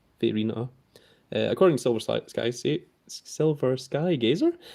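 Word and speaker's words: Vairina: Is that how you pronounce? Verina. According to Silver Sky Gazer, that is how it's pronounced. Varina.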